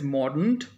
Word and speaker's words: mordant: So the word is mordant and it is pronounced in such a manner that it sounds as there is more dent to the relationship if there is harsh aspect towards it.